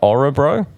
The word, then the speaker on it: Örebro: I'm gonna say it right, Örebro.